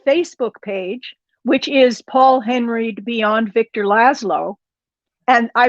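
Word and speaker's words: Henreid: is we love paul henry again it's uh we love paul h-e-n-r-e-i-d follow her i think he pronounced it hungry didn't he it's no it's henry it's he's he's doing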